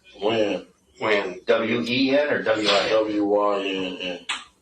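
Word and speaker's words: Wynn: Win or Wen? Win.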